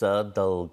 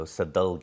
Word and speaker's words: Sadalge: to pronounce it sure it's pronounced sadal so sadul what does it mean